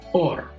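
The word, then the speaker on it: אור: La palabra hebrea para piel es la palabra or, pero también existe otra palabra hebrea que se pronuncia igual, or, y esa significa luz.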